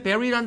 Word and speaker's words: bury: 자, B-U-R-Y 발음할 때 버리가 아니라 부리부리 아니라 반드시 bury입니다. 자, 이건 B 발음이니까 처음에 했던 Barbie처럼 혀 물지 마시고요. 혀 물면 안 됩니다. 이거는. 그러니까 해보세요. bury. 예, bury. 예, 그겁니다. 그래서 그럼 이거하고 되게 비슷하네요? 아니죠. 이거는 혀 물어야 되죠. very good 할 때 very good. 이것은 발음이 bury. 오케이?